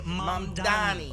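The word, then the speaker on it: Mamdani: The name is Mandani M.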